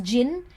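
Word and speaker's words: jinn: She thought that inside the child was a jin and the pronunciation is jin.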